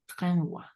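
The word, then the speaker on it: renvoient: Renvoie. Oui, renvoie. Nuevamente, ENT a la fin no pronunciamos esto. Entonces solo hasta el voix.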